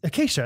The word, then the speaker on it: Acacia: the CIA may be acacia that's acacia okay like the bird like the fraternity kind of state I